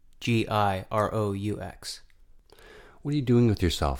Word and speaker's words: Giroux: Giroux. Giroux.